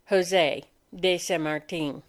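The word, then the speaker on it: José de San Martín: is called protector of peru his name is pronounced jose de sa martin the boy soldier this boy soldier who became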